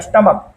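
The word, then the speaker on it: stomach: When CA is pronounce as के मतलब क एंड तो हम लोग उसमें केवल एस लगाते हैं। जैसे अब देखिए स्टमक एस टी ओ एम ए सी एच स्टमक पढ़ते हैं।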